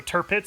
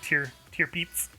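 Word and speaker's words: Tirpitz: So Turpits, that's how you say it, is Turpits. So it's not like tier peeps or tiripeets.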